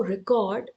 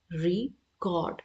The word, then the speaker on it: record: Now record, if it is used as a verb that not much was recorded, then we will pronounce it as record, record. Okay. If it is used as a noun, जैसे कि यहाँ पे है, then it will be pronounced as record.